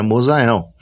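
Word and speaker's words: Musael: O meu nome é Mosael, né? M-U-S-A-E-L são as letras que compõem o meu nome. A pronúncia do meu nome não é M-U-S-A-E-L, é Mosael.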